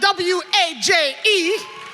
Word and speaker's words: Waje: Ladies and gentlemen, her name is spelled W-A-J-E.